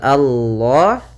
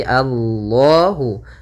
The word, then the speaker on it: Allah: besar Kemudian pada lafal Allah di sini lam tafhim lamnya harus dibaca dengan tebal bukan Alla tapi Allahu yaitu pada lafal Allah